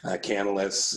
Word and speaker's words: Canalys: You can easily go and find this if you just look up Canalys. Yeah, that's how you say it. Canalys, cloud market share or something like that.